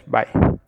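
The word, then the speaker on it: ×: greatest number of rows by number of column now this symbol is not multiplication sign it is pronounced as by the yellow matrix behaves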